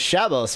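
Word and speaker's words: Shabbos: the Sabbath uh Sabbath mode also known as shabos mode ashkanazi pronunciation or Shabbat mode is a feature in many modern home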